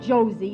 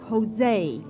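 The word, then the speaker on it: José: Josie turby it's not Josie it's Jose in Spanish J is pronounced like H oh well let's go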